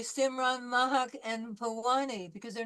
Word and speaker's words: Mahak: Did I pronounce that right, Mahak? No? Yes? Dr. Madvi, what is the correct pronunciation of M-A-H-A-K? Mahak? Mehek.